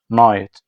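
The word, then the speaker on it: knight: شباب لو جه بعده حرف الان مش بنط الكي اسمها ايه بقى نايت اسمها ايه نايت تمام معركه يعني باتل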